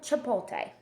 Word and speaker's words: Chipotle: For example, Chipotle. I know I'm pronouncing the restaurant's name wrong, but it's spelt